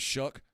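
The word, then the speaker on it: Shough: Tyler Shuck looks like he might be a starting quarterback in the NFL. Yuck. You know what rhymes with Shuck? Yuck.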